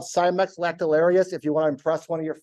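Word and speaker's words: Cimex: the way are called cymax lactal areas if you want to impress one of your friends that's the Latin term if you have a hard time saying it it rhymes with Timex that's hilarious silly award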